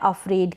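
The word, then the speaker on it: afraid: F और R है, इसको फ्र पढ़ रहे हैं। क्या पढ़ रहे हैं? और A का उच्चारण, A का प्रोनाउंसिएशन अ हो रहा है, जैसे कि हिंदी में यहाँ पर मैंने दिया भी है। और FR को हम फ्र प्रोनाउंस कर रहे हैं, अफ्रेड, और D को ड।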